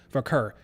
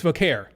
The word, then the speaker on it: Vaquer: did what they did for ker it's for care definitely for care that's how you say it actually not for ker um so people who